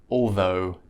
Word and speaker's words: although: That's the O pronunciation of OUGH. And that rhymes with go or no. And the words in this category are though, although, and do.